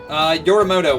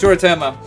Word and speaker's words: Yoritomo: Yorimoto won. By the dice. Yoritomo? I said his name wrong the whole fucking time, didn't I? And it's Yoritomo.